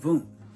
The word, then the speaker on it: Wundt: Another individual at Leipzig, Germany was Wundt, Wilhelm Wundt, W-U-N-D-T. In other words, W's in German pronounced as V's.